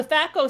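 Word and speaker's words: THAC0: armor it goes down to zero yeah so tho stands for two hit Armor class zero and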